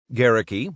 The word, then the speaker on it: Gerecke: Gerecke, rhymes with Cherokee, had also been rattled by Goering's suicide.